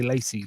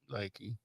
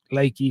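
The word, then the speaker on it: Lachey: Uh, quarterback Graham Mertz from Florida, defensive tackle Keonte Hamilton, Ruckers, and tight end Luke I want to say Lacy, but I know it's not right. Laky. Leaky from Iowa.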